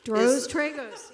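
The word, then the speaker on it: Tracy Droz Tragos: Tracy, is it Drizzen Tragos? Is that pronounced correctly? Yeah, Dros Tragos, yep.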